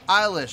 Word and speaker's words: Eilish: tonight we're coming back to some more billy eilish i've discovered that's how you act i've had several fans tell me you're pronouncing it right eilish so okay billy eilish